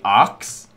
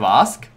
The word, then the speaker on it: ask: I can't speak English correctly, which, you know, like I used to say arcs instead of ask, which, you know, I can fix that.